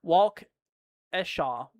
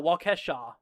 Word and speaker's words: Waukesha: Walk Eshau. Waukesha. Wait. Walk Waukesha. No, Waukesha. That's how you say it.